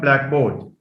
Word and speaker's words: blackboard: blackboard blackboard blackboard so it's not blackboard blackboard that's a compound it receives stress on the first sorry it receives stress on the first element by the way sorry